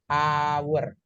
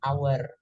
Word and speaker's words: hour: awal bunyinya jam ini cara bacanya bukan H tapi a hour jadi bilangnya an hour Ada pula yang teman-teman